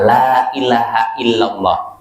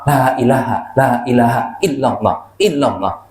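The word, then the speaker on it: لا إله إلا الله: Ini diucapkannya sempurna, la ilaha illallah. Bukan seperti ucapan sebagian seorang, la ilaha illallah, la ilaha illallah. Enggak boleh. Oh, dipotong-potong begitu.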